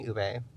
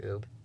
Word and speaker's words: ube: So I'm pitching ube, Okay. and not pronouncing it like oob.